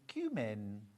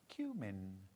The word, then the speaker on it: cumin: Almost like little pumpkins called cat's eyes in cumin. Cumin. Americans say come, don't they?